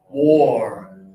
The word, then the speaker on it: wore: Oh, so you're going to pull your nose and lip down over your teeth. Wore. Wore.